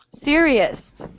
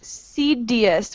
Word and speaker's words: serious: Okay, I heard some people saying cedius with a D, pronouncing the R like a D. You want to make sure that's an R sound, R, not D, R.